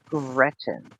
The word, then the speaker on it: Gretchen: Gretchen. Gretchen. Okay, that's easy. Gretchen. Literally just like it's spelled.